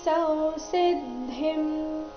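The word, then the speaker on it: ಸಂಸಿದ್ಧಿಂ: ಕರ್ಮಣೈವಹಿ ಸೌಸಿದ್ದಿಂ ಆಸ್ಥಿತಾ ಜನಕಾದಯಹ ಲೋಕ ಸಂಗ್ರಹಮೇವಾಪಿ ಸಂಪಶ್ಯನ್ ಕರ್ತುಮರ್ಹಸಿ ಕರ್ಮಣೈವ ಹಿಸಂ ಸಿದ್ದಿಂ ಸಂಸಿದ್ದಿಂ ಇಲ್ಲಿ ಸ ನಂತರ ಇರೋ ಅನುಸ್ವಾರದ ಉಚ್ಚಾರಣೆ ಅನುನಾಸಿಕ ಮ ರೀತಿ ಬರಬೇಕು ಸಂಸಿದ್ದಿಂ ಆಸ್ಥಿತ ಆಸ್ಥಿತ ಆ ದೀರ್ಘ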